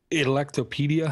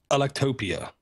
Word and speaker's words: Electopia: The apps I have for this week's show is Ustream Nuclear Radiation Dosimeter, Extensive Notes Notepad, Caffeine Mark Benchmark, Electopedia. How do you say that? Electopia.